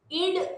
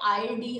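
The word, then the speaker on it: id: ही develop होत असते इड म्हणजे काय इथे मराठीत ट्रान्सलेट होताना ते आय डी असं झालेलं आहे पण ते आय डी नसून त्याचं स्पेलिंग हे आय डी असंच आहे पण त्याला इड असं म्हणतात इड इगो आणि सुपर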